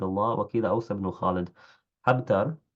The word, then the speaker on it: حبتر: حبتر بحاء محملة مفتوحة، ثم باء موحدة ساكنة.